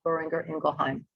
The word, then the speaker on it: Boehringer Ingelheim: So can you just familiarize this audience a little bit more about Boehringer Ingelheim? Yes, absolutely. And, great job on pronouncing the company name.